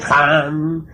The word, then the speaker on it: Ham: Ham escribe con las letras H-A-M.